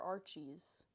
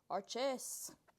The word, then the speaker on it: Arches: Do you pronounce it Arches or Archies? Arches.